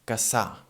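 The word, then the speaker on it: Cassà: city here, that is Casa. Casa, it's spelled C-A-S-S-A. And this we already said, again, in the first podcast. It sounds, well, like a long S, we can say.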